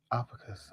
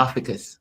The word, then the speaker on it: Ophiuchus: The 13th zodiac sign, Oh, how do you pronounce Ophiuchus. that? Opicus. I think it's Okay. Ophiuchus. Ophiuchus.